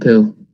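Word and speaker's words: Pou: like my friend david pooh david pooh that's an actual name yeah no it's p-o-u but it's pronounced poo french should we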